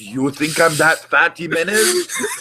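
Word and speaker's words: Jiménez: Jimenez. It's an H. Jimenez. No, it's spelled X, but it's pronounced H.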